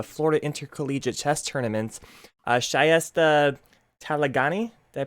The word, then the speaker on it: Shayesteh: ago at uh florida intercollegiate chess tournaments uh shyesta talagani did i pronounce it right yeah excellent well thank you